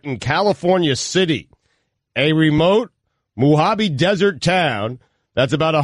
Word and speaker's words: Mojave: Mojave. That's the way you should. Mojave, actually.